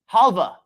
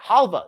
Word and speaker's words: halva: some some some information halva is the word of the day um it's got the W but I've always heard it pronounced as Hala it might be halwa it's a like a